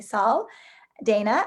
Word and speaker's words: Sal Daina: Now, I should have asked you, some people say Sal, some people say Sal. Daina, how would you like your name pronounced? I like Sal Daina.